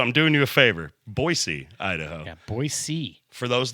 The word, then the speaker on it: Boise: For those of you that don't know us, we are a local metal band called Black Tooth Grin from Boisee, Idaho. Boy, Idaho. It's pronounced Boisey.